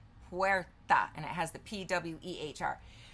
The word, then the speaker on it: puerta: Puerta is pronounced puerta, and it has the P-W-E-H-R.